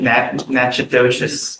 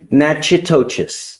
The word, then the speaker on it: Natchitoches: You are wanted out of Louisiana, Natchitoches Parish. I butchered the pronunciation, but. Natchitoches. Yes, What is it? Natchitoches.